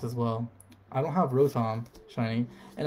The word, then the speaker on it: Rotom: have rotom shiny and a lot of people have pronounced it rotten i don't know if it's rotten or rotom i'm gonna go with rotom right because you say like row and then you say tom i don't know sanam